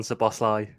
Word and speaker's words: Szoboszlai: Yeah, I mean, I've only went through about 5 different pronunciations in 3 days, but I think I'm going to have to settle on Szoboszlai.